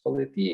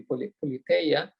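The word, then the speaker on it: πολιτεία: science, because politia indeed, in the Raelian pronunciation it is politia, in the Erasmian it would be politeia, whatever you prefer.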